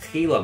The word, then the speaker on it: Gila: Or sorry, should I say the giant Gila monster, as it's actually pronounced, with one L.